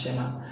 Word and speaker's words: Tsema: is shema eddie now don't be deceived by c in front of the name it's a native shakira name that's what it's called that's why it's pronounced shema um what why do